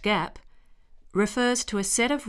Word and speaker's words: GAAP: The term generally accepted accounting principles or GA AAP pronounced GAAP refers to a set of rules followed by accountants in preparing companies financial statements.